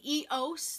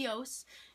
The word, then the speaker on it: EOS: cream I've ever used it's the EOS that's how you pronounce the EOS not EOS like everyone else has but um I guess you can pronounce it that way too but I really love